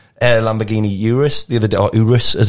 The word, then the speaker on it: Urus: this uh green Air Lamborghini Urus the other Urus as it's correctly pronounced isn't it uh do you call it